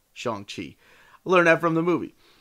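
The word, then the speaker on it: Shang-Chi: pronounce his name because i've been mispronouncing shang chi for the last 35 years of my life do not take me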